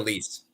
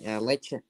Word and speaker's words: Lecce: No, Lease. Yeah, Lecce. Lecce. Oh, Lecce. Yeah, Lecce. Yeah, Lecce. Sorry, that's how I pronounce the name.